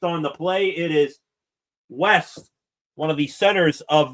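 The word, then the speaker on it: Wejse: It is West, one of the centers of this Denmark team. That is Christian West, W-E-J-S-E. I'm going to go with that pronunciation of his name.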